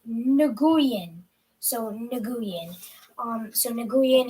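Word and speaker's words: Nguyen: there we go sorry i am receiving my pronunciation i was right nagoyan so nagoyan um so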